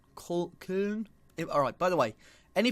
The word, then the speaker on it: Köln: So, as you can see, FC Koln. Köln. Alright, by the way, any pronunciations that I butcher during this series, do let me know.